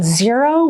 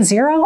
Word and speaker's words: Xero: There are a couple other ones, FreshBook and Xero, which is spelled with an X. FreshBook and Xero, I don't know much